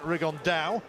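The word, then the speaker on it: Rigondeaux: about fighting rigondo or as he's correctly pronounced with the uh spanish accent rig on dao and two absolute geniuses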